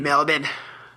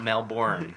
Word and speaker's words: Melbourne: know down south yeah that's how you say it Melbourne Melvin Melvin it's not male born yeah now so I